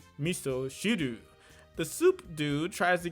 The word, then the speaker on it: miso: reference to miso soup which in japanese is pronounced miso the soup dude tries to get a little